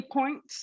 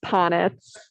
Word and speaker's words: Ponitz: And Points, I hope I'm pronouncing your last name properly. I'm present. It's Ponitz.